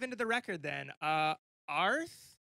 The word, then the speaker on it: Aaarth: the record then uh arth is how you say it means bear in welsh am i wrong fill